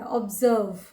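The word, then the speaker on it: observe: तो ऑब्जर्व जब हम लोग बोलते हैं तो उसमें जो एस आता है वो ज की तरह उच्चारित होता है और लास्ट में व से अंत होता है, ऑब्जर्व।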